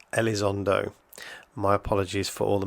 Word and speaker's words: Elizondo: this guy's name right for the record the pronunciation is Luis Elizondo my apologies for all